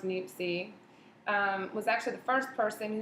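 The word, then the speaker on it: Niépce: Joe Niepce, pronounced Niepce, was actually the first person who was credited for the first photograph, taking the first photograph.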